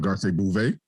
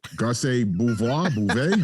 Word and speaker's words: Garcelle Bouvet: We're definitely also not talking about Garcelle Bouvet. She has a clip moving around. Garcelle Bouvet. How do we say it? No, you said it. You said it right, but I was just kind of like, ooh.